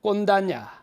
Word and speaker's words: 꼰다냐: 우리가 하문노로는 교진여 하는데 원래 인도식 이름은 꼰다냐입니다. 꼰다냐 근데 이걸 하문어로 검사를 하다 보니까 교진여데 중국 사람들 보고 어 읽어보라고 하면냐 이렇게 읽을 겁니다. 그런데 일반적으로 한국 사람들은 한국 발음으로는 교진녀 이렇게 했었죠.